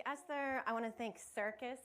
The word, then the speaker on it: CRCS: I want to thank circus which I just learned right now is the way that you uh pronounce the crcs I really appreciate that